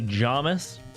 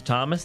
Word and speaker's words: Thomas: Thomas. People love to say Jomus. Jamis. I think it might be my pronunciation, unfortunately. My name's Thomas, and they go, "Oh, Jamus."